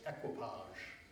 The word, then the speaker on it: equipage: It does contain the word equipage, which Shakespeare apparently meant to be pronounced equipage. So I will be pronouncing it equipage.